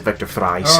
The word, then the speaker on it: Victor Fries: Isley really hard or vector freeze or is it or some pronounce it Victor fries okay someone's away from